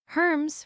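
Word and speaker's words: Hermès: Herms, for example, retains its French pronunciation with a silence and a nasalized vowel, a far cry from how it might be casually read.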